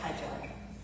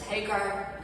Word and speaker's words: Hajar: followers the story of Hajar, who is our mother. In English, often she's referred to as Hagar. We say Hajar, is how we pronounce her name.